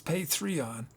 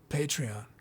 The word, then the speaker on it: Patreon: we figure that out i don't think it's pay three on patreon pronounce patreon patreon pay pay me money patreon that's how i should remember it patreon patron patreon okay that makes sense patreon hey uh was